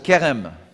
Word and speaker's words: Cherem: C-H-E-R-E-M, mais bon, bien évidemment, ce n'est pas la façon de l'écrire en hébreu. Ok. Mais on le prononce Kerem.